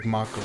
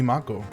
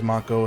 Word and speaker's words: Mako: never in my life have I heard it pronounced like Macco." But yeah, it would actually that's true. It would be Mako. Aurora says, "They do say it as Mako, especially in the remake versions, too."